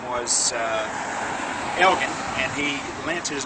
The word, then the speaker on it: Elgin: his name was uh Elgen and he lent his name to the city on the condition that they use the proper pronunciation which was in Scottish is a hard G so that's why everybody